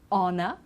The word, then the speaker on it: honor: Okay, so we don't pronounce the H. Honor, honest, and air as well.